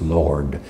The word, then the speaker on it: Yahweh: But the point that we want to keep in mind is that Yahweh is not pronounced Yahweh, it's pronounced Lord.